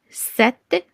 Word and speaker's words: cet: So pronunciation is gonna be ce, set, set feminine, which is double T and E, and then plural is say.